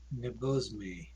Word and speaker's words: Nebosme: It's technically like the pronunciation. I wound up like sticking things with languages. That's technically like apparently the pronunciation of like sky serpent in Russian. So Nebosme.